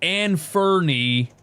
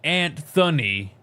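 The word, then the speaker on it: Anfernee: I forgot his name is Anfernie instead of Antunny.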